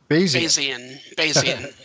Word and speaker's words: Bayesian: Bayesian is how you pronounce it. Yeah, it comes from the Bayes theorem from Thomas Bayes, and so it's a theorem in probability theory.